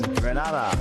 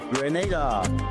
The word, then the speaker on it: Grenada: So, today, like we Germans say, we are in Grenada. But I heard in English it's called Grenada. Say it right. Grenada. Say it right. Grenada. That's right. Grenada. There we go. Say it right. It's Grenada. It's not Grenada. It's Grenada. Say it right.